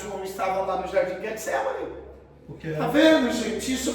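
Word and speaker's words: Getsêmani: Que Jesus lá no jardim Getsemane, que é assim que se pronuncia, não é Getsemane, é Getsemane, que é aqui igual o Getsemane, sou chato, tá bom?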